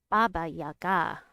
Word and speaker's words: Baba Yaga: Baba has stress on the first syllable. Yaga has an accent. Baba Yaga has an accent on the last syllable. Baba Yaga.